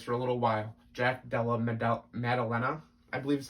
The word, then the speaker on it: Della Maddalena: Jack Della Maddalena, I believe is how it's pronounced, over Pete Rodriguez.